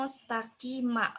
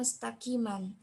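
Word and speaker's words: مستقيما: Jadi, sirotom mustaqima, bukan sirotom mustaqiman.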